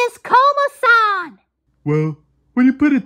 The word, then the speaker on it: Komasan: mate you're that uh combo sand correct uh it's pronounced komasan you are somewhat right